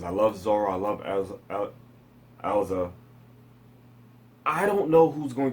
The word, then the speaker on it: Erza: You know what, I never fully knew how to say her name. So I just used to repeat how they said it in the, in Fairy Tail. Erza.